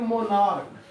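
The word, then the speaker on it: monarch: देख लो, इसको हम कहते हैं मोनार्क। क्या कहते हैं? तो CH का उच्चारण का क्या हो गया?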